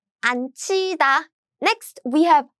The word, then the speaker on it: 앉히다: So what happens is, these are combined as 츠. So the pronunciation is 앉히다.